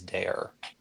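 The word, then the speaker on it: Dair: far um his uh the name is dare d a i r like dare to keep kids off drugs that sort of thing like that that's how it sounds but it's spelled differently yes dare I like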